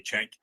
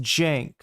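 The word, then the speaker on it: Cenk: I was in the crowd and he yelled at me, "I live like a capitalist every day, Chank."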